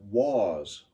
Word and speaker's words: was: line has the word was was rhymes with Oz and because as long